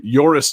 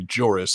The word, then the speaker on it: Joris: uh dutch is uh joris damon or possibly jorus it looks like boris but spelled with a j i'm going with joris uh joris damon who